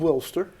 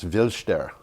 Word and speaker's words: Wilster: did except that what how do you pronounce wilster well it's spelled wilster yeah but it's viler oh it's viler oh okay W is never a vowel in in German I hear you and